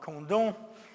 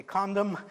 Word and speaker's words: Condom: in a town called condom that's the way the French pronounce it if I wrote it down and you read it you would say condom the town is very